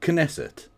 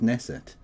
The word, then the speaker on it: Knesset: Is the K silent or not? Cuz I used to pronounce it Knesset and people said no the K is silent. It's just Nesset.